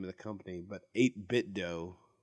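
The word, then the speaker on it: 8BitDo: of the company, but 8-Bit Dough. Yeah, that's right. Or That'll work. 8-Bit Do, like Nintendo.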